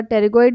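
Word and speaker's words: pterygoid: आपका टेरिगोइड muscle जो है वो कॉन्डाइलर प्रोसेस, तो यहाँ पे टेरिगोइड से की जो स्पेलिंग है वो PTERGOID है, तो P से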